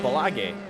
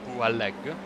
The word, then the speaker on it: Boualeg: lap car of Mohamed Balage. I'm expecting a correction of that pronunciation very soon. So it's Boualeg. Thank you.